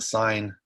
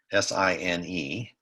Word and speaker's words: sine: That's how you spell cosine, S-I-N-E. You don't pronounce that sin, it's sine.